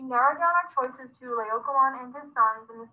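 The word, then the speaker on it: Laocoön: Laocoon and his sons is pronounced Laocoon and his sons.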